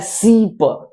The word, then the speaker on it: सीप: सी ई ई प यानी तीन बार इ ई ई एक साथ आ करके तब बनता है सीप कम से कम तीन ई का उच्चारण सेकंड लेना है आपको एक सेकंड के अंदर बस वो उच्चारण आपका कंप्लीट हो जाएगा यानी जहा एक सेकंड में इ बोलते थे वहा एक बार और दबा देना है आपको लगेगा कि हा उचार सीप सिप नहीं है सीप सिप सीप दोनों में